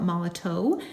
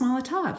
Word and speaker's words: Molotow: all the top we used to call it mallet oh but it's pronounced Molotov so we're gonna add some of this to